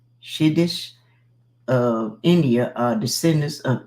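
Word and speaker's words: Siddis: The cities, pronounced Shiddish, of India are descendants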